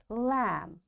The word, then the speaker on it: lamb: b will be silent we will say calm two bomb thumb climb and lamb in all these words you can see b is silent why because before b